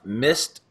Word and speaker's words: Mist: Yeah, I'm not very good at enunciating the T, Mist.